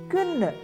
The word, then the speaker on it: kvinde: So put it all together and pronounce it as kvinde.